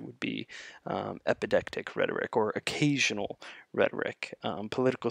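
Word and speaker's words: epideictic: This one I know how to pronounce better. It's called epidictic rhetoric, and these are proclamations either at or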